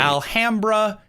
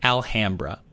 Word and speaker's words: Alhambra: Alhambra, Illinois, which is pronounced Alhambra, not Alhambra.